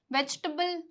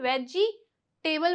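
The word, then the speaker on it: vegetable: इसे वेजिटेबल नहीं बोलते। वेजिटेबल बोलते हैं। क्या बोलते हैं? वेजिटेबल बोलते हैं। बहुत से लोग क्या बोलते हैं इसे? वेज टेबल बोलते हैं जो कि गलत है। इसे वेजिटेबल बोलेंगे।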